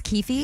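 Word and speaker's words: Keffe D: So, Kef D has admitted it is Kefi.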